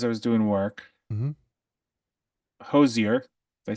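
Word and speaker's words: Hozier: classical music as I was doing work MH Hosier did I say it right yep it is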